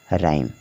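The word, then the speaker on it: rhyme: जाएगा म हो जाएगा और जो लास्ट में ई है तो ई का हमें उच्चारण नहीं करना है हमने बताया है कि जब वर्ड के अंत में ई आए तो ज्यादातर ई साइलेंट रहता है ठीक है तो हो गया राइम इसी तरह से आपको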